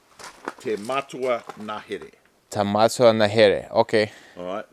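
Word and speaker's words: Te Matua Ngahere: Now, this one is pronounced. Te Matua Nahere.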